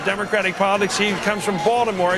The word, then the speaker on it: Baltimore: He comes from Baltimore, as it's pronounced there, Balmer.